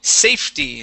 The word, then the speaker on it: safety: one right here is safety so the E is going to be silent okay we'll go from that F to the Ty safety safety very nice and our